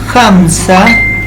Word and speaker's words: Hamza: Ejemplo, el río Hamza es considerado el río subterráneo más largo del mundo. La H se pronuncia como J.